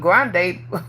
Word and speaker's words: Grande: I know how to say the last part, Grande, cause I be thinking about a Nacho Bell Grande Taco Bell.